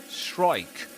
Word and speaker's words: strike: Strike. This one, the E is silent at the end, right?